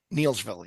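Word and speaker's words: Neillsville: And how do you pronounce it? Is it Neilsville? Neilsville, yep.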